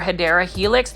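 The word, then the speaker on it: Hedera helix: And you can see this one is an actual Hedra helix or the correct way to say it is English ivy or hyera helix.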